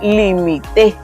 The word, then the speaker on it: limité: La sílaba tónica está en T. Entonces ya no se pronuncia igual, se dice limite. Entonces es la primera persona del pretérito indefinido. El verbo limitar.